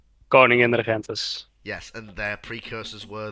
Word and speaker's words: Koningin Regentes: So you've got the Konig Regente class, which were built to supplement, not replace, their precursors in the do the pronunciation! Koningin Regentes.